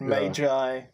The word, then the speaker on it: Magi: as they call it Magi is how it's traditionally pronounced in the last but what a muggy yeah just that um